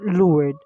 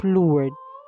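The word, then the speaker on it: Lourdes: Our Lady of less meron din namang iba na pronounce lang po siya as lard walang ES at parang wala ring s Our Lady of leard 18 times po siyang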